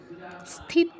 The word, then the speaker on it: স্থিত: উচ্চিয়াতে তে দীর্ঘ আচ্ছা এখানে দন্তস্বর থ আছে আবারো বলছি খ নয় তো যারা ছোট আছো খেয়াল করে স্থি বলবে দন্তস এর উপর থ স্থি স্থি নয় মানে দন্তস এর উপর হ উচ্চারণ করবে না স্থি ওকে তাহলে আমরা